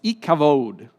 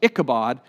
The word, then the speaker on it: Ichabod: and then expires and the name that she pronounces is ikavod which we say in english ichabod which means in hebrew no